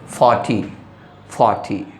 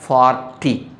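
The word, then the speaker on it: forty: R shouldn't be pronounced when there is consonant immediately after R.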